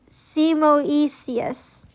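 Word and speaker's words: Simoeis: See, that's so much easier than it than it looks on paper. It's Simoius.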